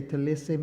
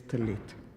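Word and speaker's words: טלית: You would say talissim, but the pronunciation in Hebrew is talit.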